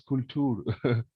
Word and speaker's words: Kultur: They call culture as Kultur. This is how they pronounce.